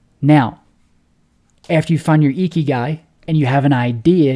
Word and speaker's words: Ikigai: So the best way to go about this is following your Ikigai, pronounced Ikigai. It's a Japanese concept that means a reason for being.